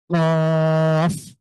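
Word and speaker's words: ق: উচ্চারণের চেষ্টা করবেন ইনশাল্লাহ তাহলে কফের উচ্চারণ হলো ক ধাক্কা দিয়ে ক ধাক্কা কফ কফ এই হরফের উচ্চারণ বড়দের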